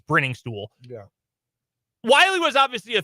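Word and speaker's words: Briningstool: Your options, by the way, Noah Gray, Jared Wy, and Jake, I mispronounced it. It's Bringing Stool.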